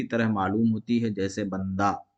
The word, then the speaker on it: بندہ: معلوم ہوتی ہے، جیسے بندہ۔ تو یہاں ہا کا تلفظ نہیں ہوتا ہے لیکن لکھا جاتا ہے، اور پڑھا کیسے جاتا ہے؟